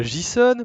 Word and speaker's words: JSON: Le JSON, prononcé JSON normalement, a suivi de remplacement